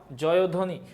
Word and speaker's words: জয়ধ্বনি: ঐশ্বর্য এটা দেখে নাও জয়ধ্বনি জয়ধ্বনি এই যে দ এর সাথে বচ্চারণে মাত্র পড়াইলাম যে ব ফলা যদি মাঝখানে হয় তখন ওকারের মত উচ্চারণ হয় জয়ধ্বনি জয়ধ্বনি এই জায়গায়